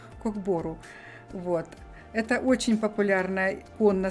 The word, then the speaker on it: Кок-бору: кок бору кок бору да правильно ударение надо поставить код бору вот это очень популярная